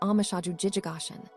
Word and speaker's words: omushoju jijogoshin: In our Sino, Japanese way of writing, this is pronounced amashaju jijigashin.